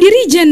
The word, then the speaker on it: dirigen: ya orang-orang apa sih dirigen yang benernya dirijen dong itu sama seperti Kristen